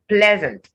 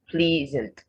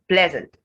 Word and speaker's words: pleasant: have breakfast and then the next word is pleasant not pleasant it's pleasant so you can say i am pleased to meet you but here it is pleasant it takes the e sound then pleasantries weapon not